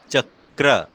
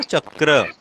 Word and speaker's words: चक्र: अब जब र जुड़ेगा तो उसका प्रोनाउंसिएशन कैसे होगा? चक्र, है ना, इस तरह से होगा ना, चक्र।